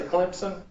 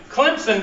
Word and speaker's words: Clemson: Like when I say Clemson, it's with a P. And I always have some smart aleck that say, oh, you're not saying it right. You're saying it with a P. Clemson does not have a P in it.